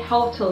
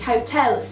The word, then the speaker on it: hotel: need to say is hotels so we put it straight on to the second syllable and this will be